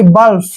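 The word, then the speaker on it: bluff: लालसा next word है बी एल यू एफ देख बी का उच्चारण हम क्या करते हैं ब और एल यू को हमने लू नहीं पढ़ना है ल ही पढ़ना है और एफ को हम फ पढ़ते हैं यानी कि बल्फ बल्फ बल्फ मींस होता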